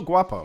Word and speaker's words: Guapo: I said, am I pronouncing the G too hard? I always thought it was guapo. No, it's good. Yeah, guapo. Okay.